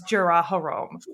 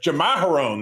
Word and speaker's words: Jamaharon: everybody thinks he wants Jaraharom. So this lady, yes, you know what? I was just going to correct your pronunciation, but Jamaharon, that's it.